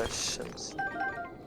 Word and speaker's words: الشمس: حتى إذا بلغ مغرب الشمس مغرب الشمس مغرب الشمس. On prononce pas le L au début.